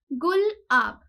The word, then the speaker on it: गुलाब: अब जो नेम है ट्रॉपिकल साइक्लोन गुलाब का, इसको प्रोनाउंस कैसे करना है in case the people don't know, it इज गुल-आब।